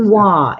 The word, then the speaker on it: quinoa: Quinoa is how you pronounce it, lady said. Quinoa. Quinoa. Yeah, but it starts with a Q.